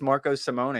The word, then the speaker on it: Marco Simone: for giving us that it is Marco Simone I've kind of been